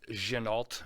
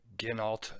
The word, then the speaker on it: Ginault: But it is pronounced Ginault, not Ginault, like I mispronounced it.